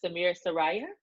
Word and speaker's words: Samir Saraiya: i'm doing well so today we're talking with samir soraya that's how you pronounce it that's absolutely right perfect he's the